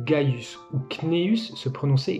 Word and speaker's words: Caius: Et parfois, ce C pouvait être prononcé G, comme Caius se prononçait Gaius, ou Cneus se prononçait Gneus.